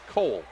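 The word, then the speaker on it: Koole: Up top it comes to Mitchell Cole. K-O-O-L-E. They pronounce it Cole.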